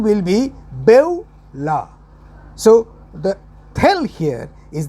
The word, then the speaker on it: Beulah: b e u l a h bevella the pronunciation will be bella so the tell here is the bevular spirit